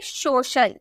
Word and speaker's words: social: जैसे SOCIAL, आपको सी के बाद आई ए देखने को मिला ना, यानी कि हम बोलेंगे सोशल, सोशल, ठीक है।